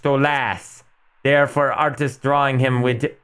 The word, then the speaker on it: Stolas: hell I heard that stus name is pronounced stolas therefore artist drawing him